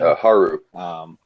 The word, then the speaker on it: Haru: Um, that kind of effect, and they definitely said that they introduced Haru or Huru. How do you say her name? Haru.